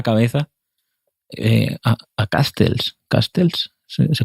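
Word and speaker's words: Casteels: Castels se pronuncia así, el portero que que que le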